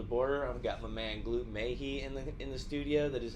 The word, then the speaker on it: Gloop: I've got my man Gloop in the studio. That is how you pronounce it, right?